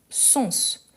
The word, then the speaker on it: sens: sens ici c'est différent parce qu'on prononce le S donc c'est pour dire euh qu'est-ce qui ça va dire lesessens d'un mot donc ici ça change pourquoi parce qu'on doit prononcer le S donc surtout ces deuxlà